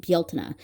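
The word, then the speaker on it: Bealtaine: But anyway, that uh that holiday is spelled that way and it is pronounced Baltna.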